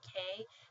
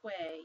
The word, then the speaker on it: que: And you might have this word, you'll see a lot, it's a question word, meaning what, but you don't pronounce it as que, you pronounce it as K.